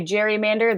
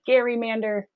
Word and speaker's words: gerrymander: you want to say gerrymander that's fine if you want to say gary mander that is fine as well we don't have to fight the good fight here on pronunciation but i do want